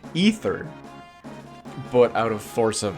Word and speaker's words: Ether: all kind of came together I realized it's pronounced ether but out of force of habit and accent